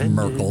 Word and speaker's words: Myrkul: Merkel, lord of bones. I will never get over the fact that his canonical pronunciation is Merkel.